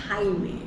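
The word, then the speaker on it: Jaime: at some point even I mispronounced this name at the very first time. Not in front of him. I was like, who's this Jamie person? And then I think Homo, he corrected me. It's Haime.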